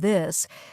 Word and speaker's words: this: For example, the tiot sound in words like think and this. Yes, many learners say tink instead of think or dis instead of this, but here's a simple